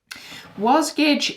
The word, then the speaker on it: Wasgij: does contain spoilers okay so diving into what's wozkage a little bit was gage is um actually the word jigsaw spelt backwards